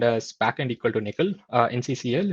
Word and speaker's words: NCCL: as backend equal to Nickel nccl it's pronounced as nickel um I think the